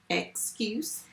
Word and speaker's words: excuse: what is the word excuse how many syllables at excuse so two first syllable ex careful with this word because some of you will just write a letter but it's not just a letter let's tap the sounds